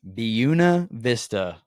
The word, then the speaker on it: Buena Vista: I've been saying it wrong. A lot of us have been saying it wrong. It's Buena Vista.